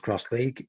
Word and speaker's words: X-League: Okay so cross League written with an X but pronounced cross League it's a limited contact